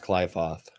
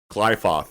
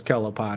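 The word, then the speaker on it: Qliphoth: This Kaiser tree was telling me it's pronounced Clyfoth. Clyfoth. That's a really cool way to say it.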